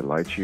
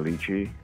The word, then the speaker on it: lychee: So Americans say lychee or lychee, but in Chinese, it's called lychee.